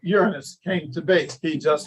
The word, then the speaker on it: Uranus: that's how we got the god of Uranus, really, is the way it's pronounced.